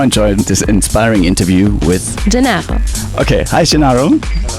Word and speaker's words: Gennaro: It's not a really easy name to pronounce. By the way, my name is Gennaro.